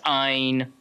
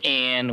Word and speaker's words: Ayn: you can get about whether or not it's Ein, or which is how I pronounce it now, or Anne, which is how I initially pronounced it, or Ain, which is what it fucking looks like.